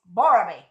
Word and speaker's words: Borobi: Borobi. That's how you say it. Borobi, not Barobi.